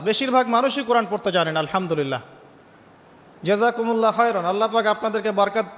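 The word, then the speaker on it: الحمد لله: আলহামদুলিল্লাহি রাব্বিল আলামিন। এইতো আপনি পড়ছেন আলহামদুলিল্লাহ। শব্দটা কি? আলহামদুলিল্লাহ। এই হা এর মাখরাজ কোথায়? হা এর মাখরাজ কোথায়? বলেন একজন কন্ঠনালীর মাঝখান থেকে এখান থেকে আপনি উচ্চারণ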